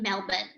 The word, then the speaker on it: Melbourne: for little birds in melbourne so melbourne pronounced locally as melbourne is the capital of